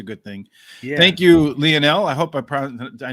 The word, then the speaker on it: Lionel: people go lionel i'm going to go with leonel because the most famous of them all on the planet lionel messi pronounces leno so thank you for the thumbs